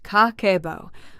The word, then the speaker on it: Kakeibo: Kakeibo, pronounced kah-keh-boh, was created in 1904 by Hani Motoko, Japan's first female journalist.